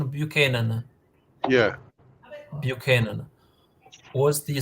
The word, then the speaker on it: Buchanan: the 18th century buan what was the right pronunciation bu Canan yeah bu Canan was the second of 11